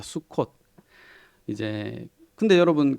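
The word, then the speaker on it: סוכות: 그죠 초막절 있니다음 사실 초막절을 히브리어 발음으로 수콧이라고 발음합니다 수콧 이제 근데 여러분 그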